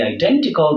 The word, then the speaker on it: identical: So as for geographical, the stress placement is on the syllable gra, and as for the identical, the stress placement is on the syllable den.